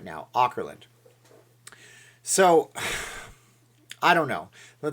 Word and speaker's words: Auckland: all the time so some people say it's Oakland Oakland Oakland Oakland Oakland thank you and I'll